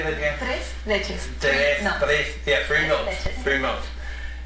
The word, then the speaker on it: tres leches: Tres leches.